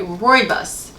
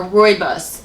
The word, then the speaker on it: rooibos: And then you have a tea called, if I can pronounce this right, rooibos. It's spelled R-O-O-I-B-O-S, rooibos tea.